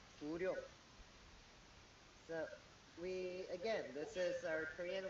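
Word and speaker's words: 구룡: It sounds like Guryong. So this is our Korean way of pronouncing the Chinese letters.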